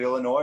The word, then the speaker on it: Illinois: in illinois is it illinois or is it illinois well no the s is silent so that's where my